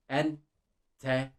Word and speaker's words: enteresan: On its own, this is kind of like pronouncing the letter E on its own, this letter. Inside the words, we can think of the English words check, ek.